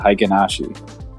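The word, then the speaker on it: Heikin-Ashi: you say that because i have literally never heard someone pronounce it like that what hi kenashi most people call it haikenashi what you just said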